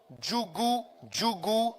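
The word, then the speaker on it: Djougou: Abomékalavi, Natiu djuguou D J O U O U G.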